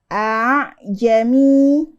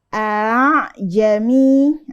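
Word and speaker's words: أأعجمي: bukan a Jami tapi aamiah kedengaran berbeda enggak Hamzah yang kedua harakatnya dimasukkan ke harakat alifu bukanamu tapi jadiiu nah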